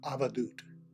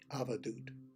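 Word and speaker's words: avadhut: In India, the term, when I was studying over there, was avadut. It's spelled A-V-A-D-H-U-T, avadut.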